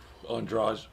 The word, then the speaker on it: Andrade: Andrade.